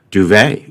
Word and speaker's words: duvet: in the demo round duvet you get your silent T I think that t